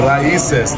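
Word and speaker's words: Raíces: We are at Raices. That's the correct pronunciation.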